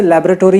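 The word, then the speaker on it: laboratory: लेकिन ज़्यादा Hollywood movies की वजह से लैबोरेटरी ही आजकल कहते हैं, इवन इंडिया में लोग लैबोरेटरी कहते हैं। बट एक्चुअली मुझे इसका यूएस वाला, सॉरी यूके वाला प्रोनाउंसिएशन ज़्यादा अच्छा लगता है, जो कि है लेबर से आता है, लेबोरेटरी, लेबोरेटरी। ओके, और इसको इंडियंस बॉ की जगह पे बो कर देते हैं।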